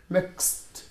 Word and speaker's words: mixed: اكيد في الافعال الثلاثه لما بحط دي او اي دي بنطقها برناونس اس ت فتبقى عندي mixed mixed bleached bleached ما